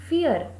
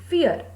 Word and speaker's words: vier: Here the pronunciation of V is fo, as when we learned alphabets it's fo, which means the pronunciation of V will start with fo. So 4 becomes fear.